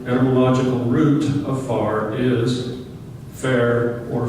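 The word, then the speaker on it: Fayre: So F-A-Y-R-E becomes fair or fairy. Not sure how they pronounce it, if they pronounce the E as an E or whatever.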